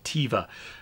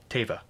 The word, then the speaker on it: Teva: there you go um teva is pronounced teva not tiva that's a really good question um i've done it both ways i've heard it pronounced both waves uh i'm not sure myself although favreau if i recall correctly said tava so but then when